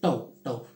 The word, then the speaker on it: tau: So this is pronounced as tau. We pronounce it as tau.